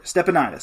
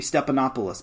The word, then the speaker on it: Stepanidis: Stepanidis. I thought it was going to be Stepanopoulos, but it's Ryan Stepanidis, middle blocker.